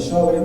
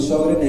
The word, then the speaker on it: Sjögren: Bueno, hoy yo les voy a hablar del síndrome de Sjögren, o Sjögren, como se debe pronunciar.